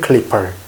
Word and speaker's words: clipper: P죠, P. P니까 어때요? 입술이 붙죠? clipper. 입술이 안 붙으면 P가 발음이 안 돼. 발음 안 돼요. 입술이 붙어야 돼요. clipper. 그죠? 그러면서 R 발음이 있기 때문에 이라고 하면서 혀를 또 굴려줘야 돼요.